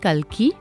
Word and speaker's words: Kalki: So that's Aaj ki nahi Kalki.